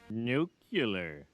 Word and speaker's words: nuclear: Nuclear. It's pronounced nuclear.